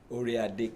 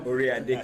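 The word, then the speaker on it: Oyotunji: a kingdom of Georgia and so did I pronounce that right orad Kingdom okay I'm still working on my Southern draw y'all orad Kingdom of Georgia thank you and he'll be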